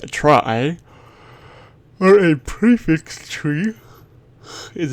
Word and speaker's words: trie: A try pronounced a try or a prefix tree is a tree data